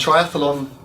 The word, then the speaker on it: triathlon: So, and triathlon just has 3 syllables.